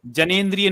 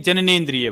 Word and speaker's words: जननेन्द्रिय: जनेंद्रिय एक मिनट में, में, जनेंद्रिय में, जननेन्द्रिय, जनेंद्रिय नहीं जननेन्द्रिय भाई, जननेन्द्रिय जननेन्द्रिय लिखा है।